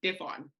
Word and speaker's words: Ndifon: I was just I usually tell people just say the D, Diffon.